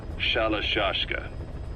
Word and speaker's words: Shalashaska: The guerrillas were using the name amongst themselves, and by the time I got to hearing about it, pronunciation had wound up as Shalashaska.